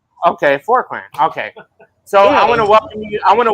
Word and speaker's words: Forqeran: I'm gonna say Kurt Forkr, but it's probably not pronounced that way. How? No, that was nearly perfect. Yeah, forrand. Okay. Forkran.